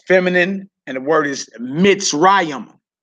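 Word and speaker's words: מצרים: Egypt is feminine, and the word is Mitzrayim. Mitzrayim.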